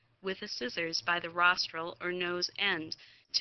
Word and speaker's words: rostral: Rostral rhymes with nostril and rostral is the direction that goes towards the nose.